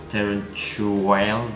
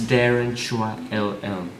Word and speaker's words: Darren Chua LL: If you actually pronounce that, it's kind of weird. It's like Darren Chuael. But anyways, it's Darren Chua LL.